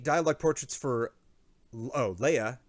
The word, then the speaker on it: Lege: 8 dialogue portraits for Leia, Lege, but pronounced Leia.